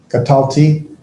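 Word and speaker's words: קָטַלְתִּי: That lamed with the shava underneath it's silent, but you pronounce the lamed, so it's the katalti.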